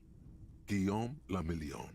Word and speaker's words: Guillaume Lamillion: meant only one thing guillaume lamillion if it doesn't rhyme you're not pronouncing it right thanks drama dazzling swirl